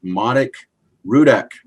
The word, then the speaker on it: Marek Rudak: today i have a very special guest mr manik rudek and i believe i did pronounce that correctly yes yes great job miguel